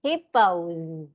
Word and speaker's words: hippos: Không phải là mà là mình đọc là z, hippos.